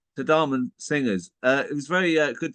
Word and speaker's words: Tadhamon: Tadhamon. Tadhamon singers.